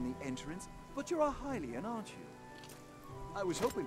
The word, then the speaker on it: Hylian: so majestic pardon the entrance but you're a hylian aren't you i was hoping perhaps you'd have a moment to talk oh it is pronounced hylian oh no okay aha a hylian yes i